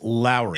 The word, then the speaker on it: Lauri: though excuse me Lowry it's not lur it's Lowry is it really it is Lowry Markin like Mike Lowry from the Bad Boys movie like Lowry Lowry marinin